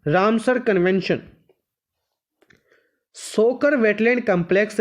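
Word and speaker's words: Tso Kar: सोकर wetland कॉम्प्लेक्टेड complex टीएस 100 या तो 100 भी कह सकते हो पर टी साइलेंट उ थे तो सोकर सोकर इसन वेटलैंड कंपलेक्स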